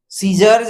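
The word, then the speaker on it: scissors: यहाँ देखिए सीजर, सीजर्ज है, सीजर्ज, सी साइलेंट हो गया है, नहीं तो यस के साथ सी का अर्थ निकलता है, च के लिए अर्थ निकलता है, सी का क के लिए अर्थ निकलता है, लेकिन ये सीजर्ज होता है, सीजर्ज।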